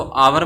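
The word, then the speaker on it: hour: हावर का H silent रहता है, इसको आवर बोला जाता है, तो आवर के अंदर अपने ए एन का यूज करते हैं।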